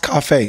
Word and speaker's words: Coffey: My name is Coffey with an E-Y. Pronounced Coffey, C-O-F-F-E-Y, okay?